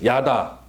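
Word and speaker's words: ידע: 내가 뭘 안다는 말을 히브리어로 다 같이 야다 힘을 발음하면 야다라고 해요 근데요 여기서이 안다는 말은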